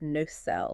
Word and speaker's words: nacelle: That's n a c e l l e, pronounced no-cell.